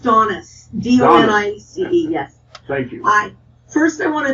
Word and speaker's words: Donice: It's pronounced Donice.